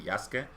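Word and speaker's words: Yasuke: saw everybody mentioning uh the pronunciation for Yas to be actually yaska because in Japanese uh the U in between uh consonants uh is uh you don't pronounce it uh that flip is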